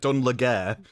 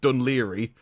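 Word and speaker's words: Dún Laoghaire: Ever since I found out that Dunlair is actually pronounc pronounced Dunli, I'm like, "Okay, I'm going to stop trying to pronounce words.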